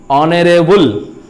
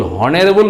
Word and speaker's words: honorable: उसी तरह से क्या कहता है कि HONORABLE ऑनरेबल। ऑनरेबल का अर्थ होता है सम्माननीय। ऑनरेबल का अर्थ होता है सम्माननीय। ऑनरेबल, हॉनरेबल नहीं पढ़ते हम लोग, ऑनरेबल पढ़ते हैं।